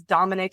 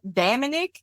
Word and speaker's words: Dominic: who sings that song pronounces Dominic as like d damic it's like damic and like H kills